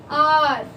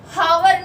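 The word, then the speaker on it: hour: उसके अलावा एच बहुत कॉमन है, आर घंटा, आर बोलते, हावर नहीं बोलते।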